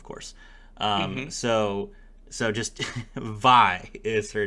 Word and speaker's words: Vi: it is uh because VI is just V you can you so